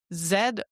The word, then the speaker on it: Zoozve: Spell it. Zoozve.